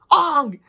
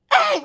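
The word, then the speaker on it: Aang: for the love of God it is not pronounced Ang it's pronounced Ang like I swear to God I thought I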